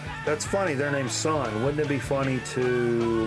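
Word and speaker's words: Sunn O))): Not to be confused with Sun O. Sun O is not the name. Don't pronounce the O. That is the actual sun burning brightly.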